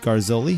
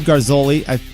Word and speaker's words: Garzoli: We're here talking with Garzoli. Did I pronounce that right? Yeah. Okay, Garzoli.